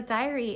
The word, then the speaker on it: Dyery: Amy from the dear diary here and I just wanted to welcome you to this YouTube account so diary in this context is spelled d-y-e-r-y and I named it